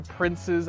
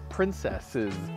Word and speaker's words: Prince's Island: to rest welcome to Prince's Island Park which commonly is mispronounced princesses Island park or something like that but it's not it's princes like a prince because Paul Anthony prince